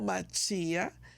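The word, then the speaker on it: מָשִׁיחַ: la palabra correcta es Mesías en español o machía en el hebreo pero pero esto es sumamente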